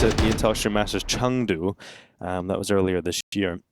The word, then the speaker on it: Chengdu: That's how I believe they say. Harry was teaching me, you know? It is a Chengdu. It's not a Chengdu. No, but it is spelled that way.